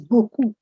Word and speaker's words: beaucoup: The word reads as buku. Very simple, buku.